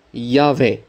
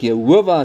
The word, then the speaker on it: Jahwe: Die regte uitspraak is Jahwe. Daar het julle dit nou uit die NG Kerk se eie Sondagskoolboek dat hulle erken die uitspraak Jehovah is verkeerd want ons voorgeslagte het hom reg uitgespreek, die konsonante YHWH of YHWH moet uitgespreek word as Jahwe.